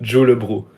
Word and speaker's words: Ulebru: So by the way, my name is it's pronounced Julebro. Ulebru.